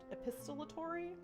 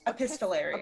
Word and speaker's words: epistolary: I actually don't know if I'm saying this right. Epistolary? Epistolatory? I think it's epistolatory. Epistolary? Epistolary. Epistolary. Yeah, you're right.